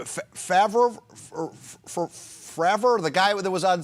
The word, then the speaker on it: Fravor: Favre, the guy that was on CBS 60 Minutes? How do I pronounce his name? Yeah, Dave Fravor.